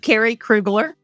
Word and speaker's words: Kerry Krueglar: name this is like an interrogation here of Carrie krugler I was gonna say it correctly so Carrie krugler I'm so glad you're here today one of